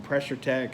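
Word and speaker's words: Pressure-Tek: quarter-inch you can get them really cheap from pressure tech I don't know them they don't know me but it's spelled tek pressure tech comm and that's probably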